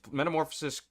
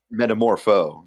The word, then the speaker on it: Metamorpho: Uh um is metamorphosis carrying uh when transformed a plot problem or plot hole? Metamorpho.